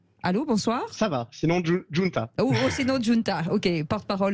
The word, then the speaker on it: Giunta: Notre invité pour en parler, Giunta, est-ce que je le prononce bien? Allô, bonsoir. Ça va, sinon Giunta.